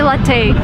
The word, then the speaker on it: latte: Porche never never and don't say latte this is like the worst thing I've ever heard it's latte lat is Italian word so you drink coffee it's latte not latte so we're looking at the